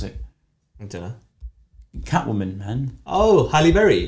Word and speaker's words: Halle Berry: what is it what's her name I can't pronounce it Catwoman man oh Halle Berry hello Berry that's it yeah put some respect on her